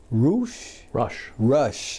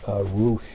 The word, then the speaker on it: Rusch: why don't you tell us who Rusch is? Okay. Or Rusch is. Rusch. Well, Rusch is the German pronunciation.